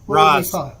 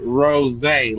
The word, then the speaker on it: Roz: It's pronounced rosé, like the wine.